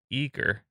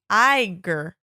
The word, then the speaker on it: Aegir: Yeah, I think it's Aer. Yeah, they do silent G's. Iger. Iger. I've been saying it wrong. Yep. Iger. Oh, okay, like a tiger.